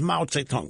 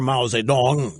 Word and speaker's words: Mao Zedong: he's as powerful as Mao Zedong was or Mao Zedong depending on your chosen preference of pronunciation and of course the